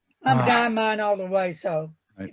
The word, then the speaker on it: Diamine: And how do I pronounce the name of that fine company? I thought it was diamine. Yeah, I did too. Diamine.